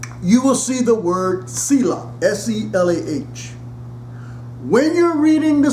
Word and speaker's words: Selah: Now also in this song, you will see the word Selah, S-E-L-A-H.